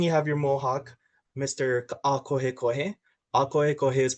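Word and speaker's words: Ākohekohe: Akohe Kohe. Akohe Kohe is pronounced A-ko-he ko-he.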